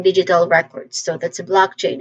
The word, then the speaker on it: blockchain: Um, pronunciation wise, we start with the first syllable, block. This is this part is the main stress. So, there's a short uh vowel sound here, block. And then ending with the letter k sound.